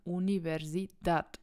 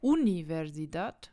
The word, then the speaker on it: universidad: D ist ein Konsonant und wir sagen Universidad das heißt wir sagen nicht Universidad wir sagen nicht Universidad sondern la universidad also die Betonung ist hinten passt ok also Regel